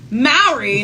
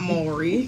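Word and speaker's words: Mowry: Maori, not Maury, and Corey Hardrick's divorce settlement has been revealed.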